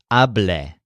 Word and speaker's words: hablé: So the stressed syllable is a, as in habla, but the second syllable sounds like le instead of la. So hablé, hablen, and hables.